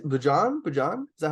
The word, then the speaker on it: Bojan: Can I say Bojan? Bojan? Is that how I pronounce Oh, it? it is close enough. It's Boyan. Bojan. Boyan. That's right.